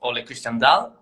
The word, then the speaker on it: Ole Christian Dahl: Ole Christian Dahl. Is that the correct pronunciation?